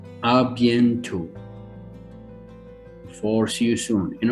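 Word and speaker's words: à bientôt: to say see you soon in french is a bientot arbiento for see you soon in arabic and if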